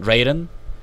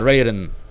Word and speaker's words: Raton: Llegamos desde Santa Fe hacia Raton, Raton. Santa Fe a Raton. Ya que está en los gringos unidos, pues lo tenemos que pronunciar en inglés.